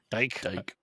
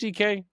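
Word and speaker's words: Dike: I'm gonna flex in Chimere DK, Chimer DK, Dyke. It's pronounced DK. That's what he says.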